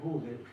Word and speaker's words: Gödel: Un señor se escribe Gödel, se pronuncia Gödel, se escribe G-O con diéresis D-L, esbozó el